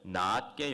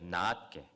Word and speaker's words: 낫게: 여기 적힌 낫은 길게 발음해야 돼요. 성조가 있어요. 낫게. 함께 해보실까요? 낫게. 예. 낮게는 낮게 낮추어 부는 거죠. 짧게 하면 낮. 지읒 발음이고요. 시옷 발음으로 하면은 성조가 있어요. 장음이라 낮게.